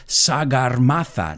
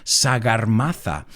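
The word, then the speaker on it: Sagarmatha: guy came on board in nepal it's called sagar mata now you'll have to excuse my pronunciation sagar mata which means head of the sky and there's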